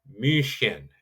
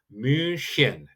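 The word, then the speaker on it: München: So we'll be flying into Munich and in German that's pronounced mushin and there you get actually both you get two things there. You get the umlout u and you get that ch. So min would be how Germans would pronounce Munich and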